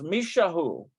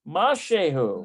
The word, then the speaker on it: משהו: Mashehu. משהו. Okay, mashehu. משהו. Do you know that that's the same word for yogurt if it's mishahu, but it's mashehu, which means something.